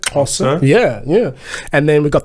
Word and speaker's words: Xhosa: X is like the horse, like Right, so like the language Xhosa, that's how you say it, Xhosa.